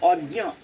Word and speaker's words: অজ্ঞ: তো ওইখানে এই আচ্ছা, অজ্ঞ এই উচ্চারণটা একটুখানি দেখতে হবে। অজ্ঞ বর্গের জয় ইয় তো, গ নাই কোথাও, তাহলে উচ্চারণের সময় গ আসবে না। হ্যাঁ, হ্যাঁ, ওই গ উচ্চারণটা আসবে না, মানে গ তো নাই এখানে, বর্গের জয় ইয়, তাহলে ওই দুটোই আসবে। অজ্ঞ।